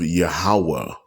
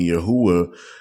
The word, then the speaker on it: Yahweh: But many get it confused by dropping the A that should be before the U and saying Yahuwah instead of Yahweh. So when you leave the Hauah, it would still be pronounced Hawa, Yahweh. There was no U's used in as vowels in ancient Paleo Hebrew, so saying Yahuwah is improper.